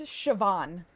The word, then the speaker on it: Siobhan: Where's the V sound? Oh, that one I know. Aon, that one I know. That's Siobhan.